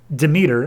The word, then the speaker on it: Demeter: we cut to coloma michigan who we see demeter and i specifically looked it up how to pronounce it so don't give me any of